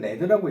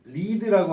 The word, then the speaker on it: lead: 이 납을 우리가 LEAD라고 하고, 얘네를 읽을 때는 레드라고 읽습니다. 다리도 마찬가지로 패키징에서 사용하는 다리가 LEAD, 리드라고 하는 그 다리예요. 그래서 납은 요 LEAD는 두 가지로 읽고 두 가지 뜻을 가지고 있죠.